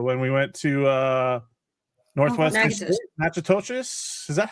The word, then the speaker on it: Natchitoches: couple years ago when we went to Northwest Natchitoches. Is that how you say it? Natchitoches.